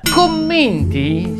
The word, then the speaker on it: commenti: il mio sito web commenti si pronuncia con la e chiusa adesso hai finito No